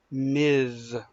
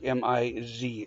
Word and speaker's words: Ms: married or not so that's where the term Miz was created and it's pronounced more like mi z ms not myths with an S sound because